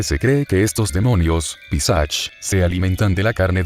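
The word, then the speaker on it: पिशाच: La palabra, pronunciada como Pisach, es un demonio en la mitología india.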